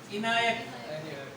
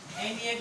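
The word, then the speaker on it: ENIAC: यूनिवैक, एसडेक और इनायक, एनिएक भी बोलते हैं प्रोनाउंस करते समय, है ना।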